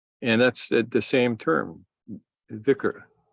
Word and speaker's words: Dhikr: Now you'll notice that Noor and I pronounce the word slightly differently sometimes, most of the time. Yeah. In classical Arabic, the letter is a sound that is not quite in English.